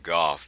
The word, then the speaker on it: Gough: We're at 3413 Golf, that's spelled Gough Drive.